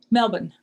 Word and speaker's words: Melbourne: Just remind me again how you pronounce the name of this city. Melbourne.